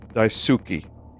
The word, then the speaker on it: Daisuke: It's Daisuke. Daisuke? Everyone is trying to get me to pronounce it differently.